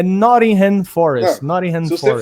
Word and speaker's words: Nottingham: Mas como meu compromisso é sempre ser melhor a cada dia, eu melhorei a minha pronúncia. É Nottingham Forest.